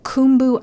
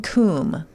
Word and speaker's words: cwm: goes through the treacherous kumu icefall and Western Kum which is spelled cwm but you say Kum CW yeah okay it's